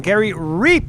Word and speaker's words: Reap: I've been saying your name wrong. Gary Reap is the way we say it.